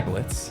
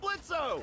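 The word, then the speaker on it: Blitzø: Hey, that sounds like Blitzo! The O is silent, asshole!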